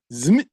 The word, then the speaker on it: Szmyt: Zmit. I mean, the SZ that seems European. So like this, like more of a sh sound. That's how you say it, Andre.